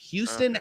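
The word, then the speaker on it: Houstan: Houston actually spelled with a Hostan, which really pisses me off, but still pronounced Houston.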